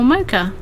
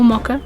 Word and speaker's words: mocha: you this recipe for a mocha or maca depending on where you are and how you pronounce it one of my favorite